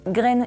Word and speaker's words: Green: Et oui, pour info, son nom se prononce Green et non pas Green, car c'est un nom suédois et non pas anglo-saxon, battez-vous dans les commentaires.